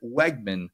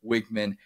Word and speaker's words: Weigman: pronouncing his name wrong they still pronounce it Wegman like the grocery store Wegman's instead of what it actually is which is wigman and I know that